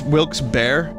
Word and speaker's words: Wilkes-Barre: jonathan frakes is from bethlehem pa oh it's wilkes bear okay that's how you pronounce it i was wondering which album did